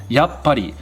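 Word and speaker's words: やっぱり: in between those sounds we have a very small tsu so it's actually spelled yatsu pari but the tsu sound is very small and when we write su really small in between other characters that indicates that there is a pause there and we wouldn't actually pronounce the sound tsu but we just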